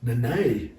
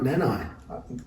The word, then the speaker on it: Nene: Nene? I think that's how you say it. It's not Nanai. Definitely not. It's Nana is like the Australian way of saying it, I think.